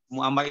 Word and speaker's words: Muammar: Muammar itu didomahkan awalnya, bukan Ma'mar. Muammarun bidhammi wildu Ya'mura. Itu putra daripada Ya'mur. Jadi Muammar bin Ya'mur. Nah, jadi kalau tulisannya mim ain mim ra bin Ya'mur, maka bacanya jangan Ma'mar. Tapi bacanya Muammar. Muammar bin Ya'mur.